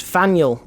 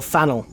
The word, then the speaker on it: Faneuil: I'm saying it wrong don't let the French spelling confuse you the name of this building is pronounced Fanueil or Faneuil which one Fanueil panel